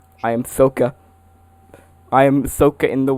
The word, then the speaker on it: Sokka: Yes, Sock. I am Sokka.